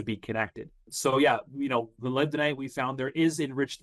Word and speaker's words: molybdenite: How do you pronounce that? Molybdenite? You nailed it. No, it's molybdenite.